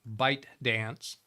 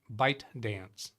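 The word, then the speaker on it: ByteDance: but no that's it bite dance I always I only ever heard it on a news article talking about by dance never heard them pronounce the T bite dance to devel itself of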